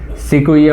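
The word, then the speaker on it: Sequoia: यही नाम आता है सिकुइया क्यू यू ओ आई ए बार स्पेलिंग आप लोग चेक कर लेना सिकुइया होता है जिसको ये बोलते हैं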